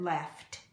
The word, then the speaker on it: laughed: We add E-D, but we pronounce it laughed.